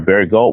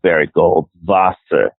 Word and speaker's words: Barry Goldwater: we have to because we're saying his name wrong his name is Barry Goldwater there we go what